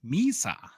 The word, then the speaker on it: Misa: So Michael Misa, I even looked up the pronunciation. Misa.